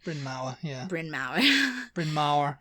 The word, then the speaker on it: Bryn Mawr: According to Bryn Mawr College. I don't know if I'm pronouncing that correctly. Bryn Mawr, yeah.